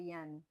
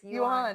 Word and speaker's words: yuan: I'm looking up the pronunciation for the yen. How sweet. It's yuan.